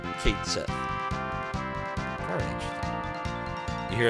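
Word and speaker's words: Cait Sith: The original Gaelic pronunciation is closer to Ket-Shi. Oh, interesting. I didn't know that. Technical proper pronunciation is Ket-Shi. But FF7 goes with Kate Sith.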